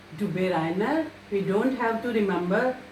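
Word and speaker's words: Döbereiner: It is pronounced as Dubé Reiner. So this is the correct pronunciation of this German name, Dubé Reiner.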